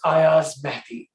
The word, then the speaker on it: Ayaz Mehdi: it um so i'll start with saying uh pronouncing my name correctly for everyone um it's ayaz matthew um now that being said um where do